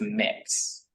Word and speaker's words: Mx: gender neutral honorific of MX, which is pronounced mix. So just think of mix without the I in it, basically.